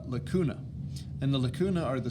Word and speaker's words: lacunae: likutey goes in the lacunae it rhymes if you say 'la cootie and the lamella doesn't rhyme so it's just something